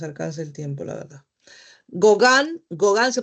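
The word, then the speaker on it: Gauguin: Gogan. Gogan se pronuncia, se escribe gaogín, pero se pronuncia gogan. La u o a u son o y la g i Gogan.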